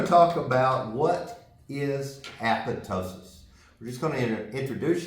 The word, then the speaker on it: apoptosis: process Dr what is apotosis well and most people say apoptosis I say apotosis but you can pronounce it however you want to and you look it